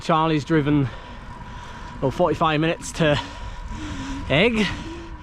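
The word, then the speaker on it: Aigle: driven 45 minutes to Egg, I think is how you pronounce it, or something like that. It looks completely different to the pronunciation, but I've been told that's how you pronounce the town name, and it's actually where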